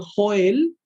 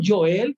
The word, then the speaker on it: Joel: hay una tendencia en español a decir o joel y allí ya ya lo cambiamos en el cual decimos yo el que es la pronunciación correcta aunque se escriba